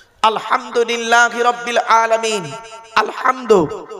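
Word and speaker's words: الحمد: না আলহামদুলিল্লাহি রাব্বিল আলামিন আলহামদু এই গলার ভেতর থেকে হেটা উচ্চারণ করবেন হাই হুতি হাই হাওয়াজ নয় আলহামদুলিল্লাহি রাব্বিল আলামিন আলহামদু মানে হচ্ছে সমস্ত প্রশংসা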